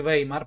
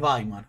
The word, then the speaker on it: Weimar: Acá Andrés hace una corrección, a uno me sale decir Weimar, pero es Weimar. Efectivamente es Weimar porque la EI en alemán se pronuncia EI y la EU hoy.